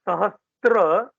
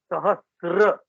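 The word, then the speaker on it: सहस्र: hear this a lot it is not sahastra it is sahasra yes the thousand names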